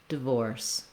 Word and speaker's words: divorce: It's actually similar to the word force, we just add voicing. So rather than force, vorse. Once I have vorse, I'll just add a light touch for that first syllable. Vorse, divorce, divorce. That's going to really help you get the rhythm and the vowel sounds correct in both syllables of the word divorce.